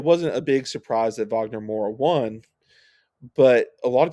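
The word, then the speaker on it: Wagner Moura: a while about and I think it's Vagner Mora I think you pronounce it Vagner I try and pronounce people's names right if I can Um I I think so.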